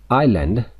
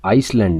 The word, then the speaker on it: island: आइलैंड, अब देखें spelling जो है ISLAND है, तो आइसलैंड नहीं पढ़ेंगे, ये आइलैंड पढ़ा जाएगा, जो कि जजीरा के मानों में होता है, यानी पानी में एक खुश्की का जो टुकड़ा होता है उसको आइलैंड कहते हैं। एस साइलेंट है इसमें, यानी एस की आवाज़ नहीं निकाली जाएगी।